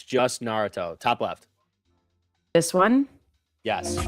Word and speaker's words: Naruto: Start with it's just Naruto. Top left. This one? Yes. Okay. Now. Okay. Now we can hear it. Pause. There are filler episodes which. Naruto.